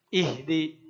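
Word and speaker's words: اهد: Yang ini bukan uhdi juga tapi ihdi.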